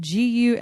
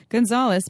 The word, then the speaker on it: Gunsaullus: It is spelled Gunsaullus. German. It's German. Yeah. Gunsaullus, PhD, sociologist and intimacy coach, is a national